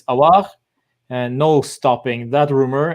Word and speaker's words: Aouar: I haven't really seen much of Aouar. Finally, I pronounced it properly.